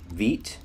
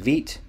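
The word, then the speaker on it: Vite: point out is uh Veet and it's spelled v-i-t-e but it's actually pronounced Veet and this would be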